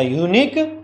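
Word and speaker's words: unique: अ यूनिक book, तो यहाँ पे अ आएगा। एन यूनिक बुक नहीं होगा, य का ये साउंड दे रहा है, न कि ऊ का साउंड दे रहा है।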